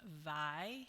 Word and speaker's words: Weil: Uh I will acknowledge that I was saying the name of Simone Vi incorrectly. Um she is not German, she's French, but um I just looked it up this morning and it's pronounced by.